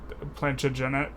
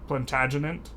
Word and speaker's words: Plantagenet: dynasties uh and various someone said I pronounced plantagen wrong and it's plantagenet plantagenet I think that might be it um anyways on the